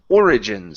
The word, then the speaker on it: origins: The word is origins. So stress is at the very beginning. Okay. Origins. Origins. Yeah, so we're pronouncing every vowel.